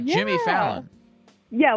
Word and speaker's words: Fallon: You said your name is Salon? Yes, with an F. Where is that F? Fallon. F-A-L-L-O-N. Oh! Fat, like yeah. Jimmy Fallon.